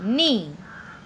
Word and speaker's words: knee: This is a knee. What is this? Knee. In the leg we have knee. K-N-E-E, knee. K is silent here, so we have to pronounce it as knee.